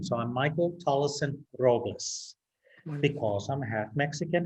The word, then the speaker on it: Tolleson: t i s t have i been pronouncing your last name wrong all these years i've been saying tolson but it's tolleson i i beg your